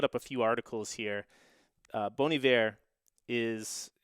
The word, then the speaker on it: Bon Iver: little bit differently so he pronounces it as bonivare the song is from